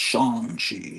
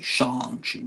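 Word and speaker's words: Shang-Chi: points during the movie lets everyone know it's pronounced shangi shangi you got to pronounce it right it's like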